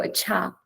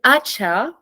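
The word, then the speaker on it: अच्छा: one word in Hindi, if I use the word acha, you have the stress on the second syllable. You go acha, like on the second one, right? If I said acha, I would have it on the first syllable, which doesn't quite sound exactly the same.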